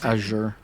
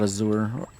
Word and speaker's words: Azure: proper way of pronouncing it's Azure not azour or azer it's AZ Azure but